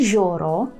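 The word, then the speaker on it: jezioro: Отже може море є joro є joro є joro гарно вимовляємо йо Так йо-йо - це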